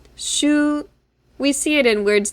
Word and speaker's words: 週: So this is pronounced shu.